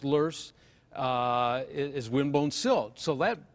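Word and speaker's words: loess: plus L o ESS it's a german word pronounced loose is windblown silt so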